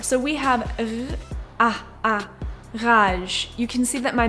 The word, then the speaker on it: rage: For example, let's take the word rage, which in French is the same thing just pronounced differently. It's ra. As you can hear, I'm making the gargling soundv like that. The sound is coming from the back of my throat.